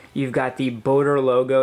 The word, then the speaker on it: BOTTER: And there is some uncertainty out there as to how to pronounce it, but the French do seem to pronounce it BOTTER, so I'm going to go with that.